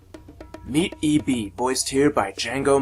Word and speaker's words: Django: eb voiced here by django marsh the d is silent eb's dad voiced by